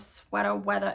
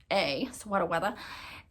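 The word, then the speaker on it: Sweata Weatha: and you look up Sweater Weather and it's I say it like that because it is s-w-e-a-t-a w-e-a-t-h-a Sweater Weather and if you look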